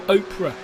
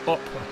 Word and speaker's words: Oprah: a great name and I think it's more Oprah than oppra I I know I know